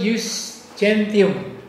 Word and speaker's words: jus gentium: Zaman Kekaisaran Romawi dekat sebelum Kristus lahir ya, itu Kekaisaran Romawi sudah menerapkan yang disebut jus gentium. Bagaimana bacanya?